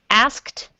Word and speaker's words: asked: can you try to repeat after me asked ask I make sure that t sound on the end is very strong asked I asked yes